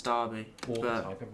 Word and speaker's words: Derby: It's one of my favorite ones, but it's Derby. I say Derby. Unless it's the city, then it's Derby.